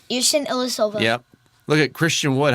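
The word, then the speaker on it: Ersan Ilyasova: Yerson Ilyasova.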